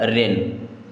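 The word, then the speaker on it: wren: क्या पढ़ेंगे need NEET W आर ई एन डब्लू के बाद आर यानी कि डब्लू साइट तो ये क्या हो जाएगा रेन एन ए यू जी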